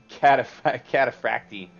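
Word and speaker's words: Cataphractii: Cataphracti. You got it, Dave. That's the correct pronunciation.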